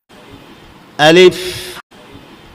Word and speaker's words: ألف: আলিফ উচ্চারণ করতে হলে আপনাকে উপরের দুটি দাঁত নিচের ঠোঁটের পেটের সাথে লাগাতে হবে, তাহলে আলিফ আদায় হয়ে যাবে। ৫ বার বলি, ألف ألف ألف ألف ألف।